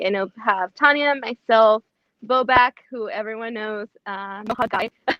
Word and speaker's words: Bobak: Also, it's Bobak. This is You why said I his couldn't- name wrong.